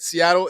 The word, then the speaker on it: Seattle: don't pronounce our t's when people say seattle like i just said seattle it sounds like it with a d seattle but there's real